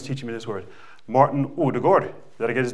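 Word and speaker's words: Ødegaard: me this word, Martin Odegaard. Did I get his name right? Yeah. Oh. He yelled at me for pronouncing the D at the end of Odegaard. So I said, Odegaard, okay. This football, when you kick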